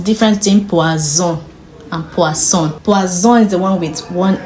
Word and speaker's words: poisson: pronounce our words in French because sometimes we pronounce a word uh wrongly and it means an entirely different thing so poisson means fish means poison so in this case poisson is an example all right so the next